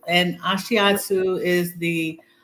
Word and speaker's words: Ashiatsu: I know I pronounced it No, wrong. it's Ashiatsu, and Ashiatsu is the name for it's actually really like stretching.